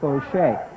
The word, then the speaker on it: Faucher: The fullback is number 5, Sean Fauché. It is spelled Faucher. That sounds like a French name, JR.